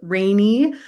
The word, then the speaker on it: Rani: So my name is Rani. It is pronounced rainy, like the weather.